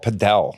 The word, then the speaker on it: padel: They call it padel. That's why I asked him the same thing. They call. I mean, people say it both ways.